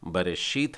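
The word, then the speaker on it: בָּרָא: तो इसका उच्चारण हो जाएगा बारा, बा रा अ, बारा।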